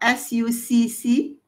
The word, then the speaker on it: succumbing: What about S-U-C-C-U-M-B-I-N-G? How do you pronounce that?